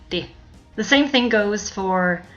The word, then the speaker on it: det: Notice how we don't pronounce the T in det. We simply say det.